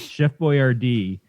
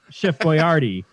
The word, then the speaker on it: Boyardee: something wrong that for my entire life is Chef Boyardee and then a couple years ago some idiot ass had an advertising no offense Jeff said Chef Boyardee and I'm like what is this you can't